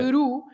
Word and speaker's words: peru: Peru. So you have the letter I or the letter U at the end of the word. You stress that part, and even if you